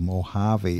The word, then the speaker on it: Mojave: as a second language somewhere around the world Mojave is spelled m-o j a v e Mojave Beach Productions thank you it is true